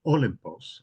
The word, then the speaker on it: Olympos: u yes the village is called Olympos accent on the first syllable um and the the